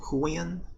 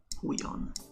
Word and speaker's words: Huion: Is it pronounced Hawaiian or Huion? Huion? Huion.